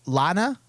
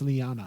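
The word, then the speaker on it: La'an: new sing chick the the lana luanne lion is it leanne i think it's lyanna i think it's lyan i think it's spelled l a apostrophe a n la an lan sing she is spicy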